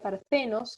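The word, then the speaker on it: παρθένος: Pero pasemos, por ejemplo, a la virgen o doncella parcenos, que es una palabra paroxítona porque tiene acento agudo en la penúltima sílaba.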